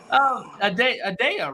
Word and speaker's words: Adele: Adele, right? That's how you pronounce it?